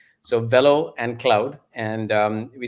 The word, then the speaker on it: Velo: as ceo and co-founder called fellow cloud and it's velo actually and it velo is